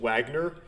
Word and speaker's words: Wagner: play through this i actually pronounced it wagner but it's german so it's wagner and that's uh that's